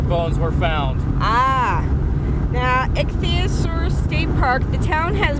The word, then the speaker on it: Ichthyosaur: It's Tayauser State Park. It's spelled ICHTHYASAU. Oh, that's I believe that's ichthyosaur.